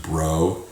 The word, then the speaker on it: Breaux: The owners of Breaux Farms, hey, it's spelled like B-R-E-A-U-X, but it's pronounced Bro. Yo, Breaux Farms, man.